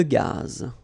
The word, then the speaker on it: gaz: Une conduite de gaz. Final not pronounced here.